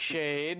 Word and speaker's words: Schade: I am joined by Mr lampshade at Isaac shade as he told me earlier today as I